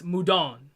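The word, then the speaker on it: Mudoon: And turns out that Mudun is not pronounced Mudun. I found this out from a comment. It's Mudon.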